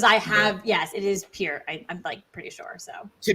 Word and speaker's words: Peart: have yes, it is Peart. I'm pretty sure. So to be fair, there's a legendary drummer with that same name, so I have to remember that it's pronounced differently than the Rush drummers.